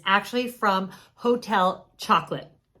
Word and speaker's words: Chocolat: box and I just found it, and it's actually from Hotel Chocolate, which I think is probably pronounced like chocolat, but unfortunately it is